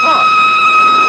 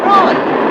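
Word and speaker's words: Froy: My name's Troy. You said Troy? No, not Indy. Troy. I'm sorry, I can't hear. It rhymes with joy.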